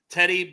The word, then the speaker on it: Tedy: of them Tedy Buchanan Teddy Buchanan but it's spelled weird so I say it weird sometimes it's spelled like t e d d ye but I think it's still Teddy to be fair um